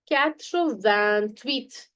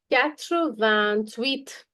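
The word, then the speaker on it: quatre-vingt-huit: Catro van tweet. There is a leazison here. Do not forget CR van tweet.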